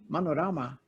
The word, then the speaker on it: Manorama: I love the name, by the way, Manorama. Yeah, you pronounced it very rightly.